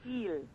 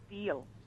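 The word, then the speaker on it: Diehl: Deal. Hmm? Deal. And when people didn't know how to say it, I said, think of a good deal. And they never forgot my name. Eel. But it's D-I-E-H-L. Deal.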